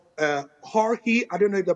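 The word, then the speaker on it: Heorhii: and then Ukraine have a player called uh hori I don't know if the pronunciation is Right h e o r hii it's basically Georgie but it's pronounced hoi sudakov as well um he plays for sha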